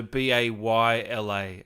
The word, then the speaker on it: Bela: meaning uh someone asked is it pronounced baylor so b-a-y-l-a i guess it is yeah yeah it's like it's like like bay or like b-a-y yeah bay and then l-u-h bayla oh okay yeah yeah